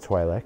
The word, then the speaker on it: Twi'lek: And it's pronounced Twi'lek. And if you guys don't believe me, then argue about it in the comments, because it's Twi'lek.